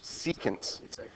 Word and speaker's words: secant: going to play with secants seant yeah no can just um kind of like pronounced like that cant yeah how you would pronounce those two words but put together all right all right before